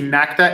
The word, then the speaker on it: NACTA: The name of the school is, in English, it would be NACTA, N-A-C-T-A, and it's the National Academy of Chinese Theater Arts.